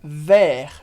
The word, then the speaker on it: vers: E agora você já sabe que a gente fala vers sem pronunciar o S, porque como regra geral, a gente não pronuncia consoantes no final de palavras.